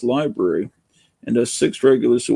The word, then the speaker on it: LBRY: content tried moving to lbry pronounced library and as six regulars